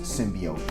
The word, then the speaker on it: symbiote: saying it simply off before but apparently it's pronounced symbiote so I stand corrected there you go guys